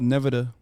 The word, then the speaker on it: Nevada: you see the guy why is she saying it wrong it's called Nevada Governor's oh you see